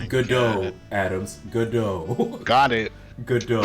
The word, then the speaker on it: Godot: Oh It's Godot, Adams. Godot. Got it. Godot, Adams. If you're gonna be the judge, you gotta say Godot.